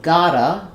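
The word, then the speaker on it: gotta: Um we can also do a flap t on got to if we think if we change got to to gota. So, gota, we write it with two T's. We say it with the flap sound.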